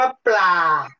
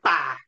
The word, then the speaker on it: ปลา: รูป นิด นึง อ่ะ ปลา เรา คน ไทย เนี่ย จะ ออก เสียง ป่า เป็น อย่าง นี้เรา เรา ลืม ตัว เปรอะ ตัว นี้ ปลา ปลา ไม่ ใช่ ครับ